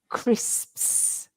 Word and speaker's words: crisps: crit like um cricet so the crit at the beginning is like in cricket but the end of it is sp PS so you have to say crisps you might want to